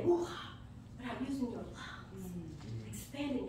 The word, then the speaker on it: Ruach: Pronounce Ruach. R-O-O. For the scholars in here, A-K-H.